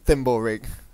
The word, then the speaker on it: Thimblerig: course of course yeah it's pronounced thimble rigged so much for being